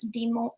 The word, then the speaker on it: Des Moines: The way you fancifully pronounce Des Moines. That's how all the locals say it there.